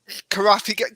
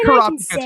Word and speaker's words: Kurapika: what I saw with Kurapika. Karapika. Can I just pronounce it? Karapika too. I've heard both pronunciations.